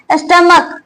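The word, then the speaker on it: stomach: स्टमक, इसमें इसे भी हम लोग स्टमक क आता है प्रोनाउंसिएशन लास्ट में, इसका प्रोनाउंसिएशन क हो रहा है, यहाँ पे भी क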